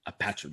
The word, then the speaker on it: Apatrida: Is Apatrida. Yeah, kind of. That's why we decided to name the album like this, because we know it's very, very difficult for non-Spanish people to pronounce the Apatrida word. Apatrida.